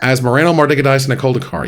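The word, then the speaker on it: Asmoranomardicadaistinaculdacar: Last year's winner was Asmarano Mardikadice Koldakar. Did you forget how to pronounce her? Asmarano Mardikadice Koldakar, yes.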